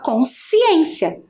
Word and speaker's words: consciência: Quando eu faço a pronúncia dessa palavra no todo, a gente quase não consegue perceber que fica, né, cons. A gente fala consciência, né? Então dá a impressão que só tem ali uma sílaba no si, né?